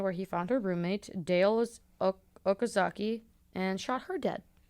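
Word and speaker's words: Dayle: Like, put that, like, Dale. Yeah. Like, Dale Gribble from King of the Hill. Dale Okazaki. Yeah, but it's spelled D-A-Y-L-E.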